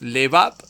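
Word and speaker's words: לבב: En el hebreo es levab y se escribe con la letra lamet y dos letras eh bet. La la lamet que representa la L y las bet que representa las B.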